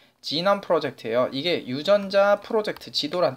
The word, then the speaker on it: 게놈: 게놈 프로젝트라고 우린 있거든요? 네, 게놈 프로젝트가 뭐야? 뭐 게놈이야? 뭐 욕하는 거야? 뭐야? 당연히 지남이라고 읽는 거야 돼. 진이잖아요? 유전자가 진. 지남 프로젝트예요.